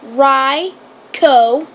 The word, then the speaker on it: Raikou: It's pronounced Raikou.